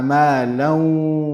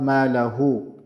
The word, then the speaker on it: مَالًا: So الَّذِي جَمَعَ مَالًا وَعَدَّدَهُ, not مَالَهُ.